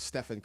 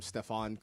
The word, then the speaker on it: Stephen: Um first he mispronounced Steph's name instead of Stephen Curry. Called him Stefon Curry.